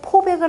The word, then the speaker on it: 포백: 폭염더위에 할 때는 폭자가 되고, 햇볕에 쬐인다라고 할 때는 포라고 읽으셔야 됩니다.